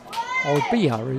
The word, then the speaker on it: Oibai: Oibai is the pronunciation from the Ware PA man, so I'll go with that as well.